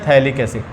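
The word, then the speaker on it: phthalic: क्या बोलते हैं, पीएच साइलेंट होता है, थैलिक एसिड, थैलिक एसिड।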